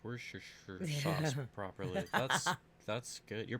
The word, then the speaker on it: Worcestershire: But you still know how to pronounce Worcestershire sauce properly. That's good. You're probably the only person on the planet who can do that, actually. I wish I could say it right. Worcestershire. Worcestershire.